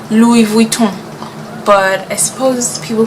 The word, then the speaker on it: Louis Vuitton: say Louise Richmond but he was actually a hundred percent correct it is Louie Vito but I suppose